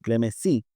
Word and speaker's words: Clemesí: Clemesí, sí, tiene acento en la Sí, I.